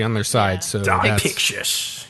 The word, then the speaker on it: Pixis: Pixis. Yeah. Pixis, Yeah. not Pixie.